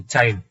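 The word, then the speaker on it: child: सी एच आई एलडी चाइल्ड ये Kyle क्यों नहीं हुआ या साइल क्यों नहीं हुआ य साइल या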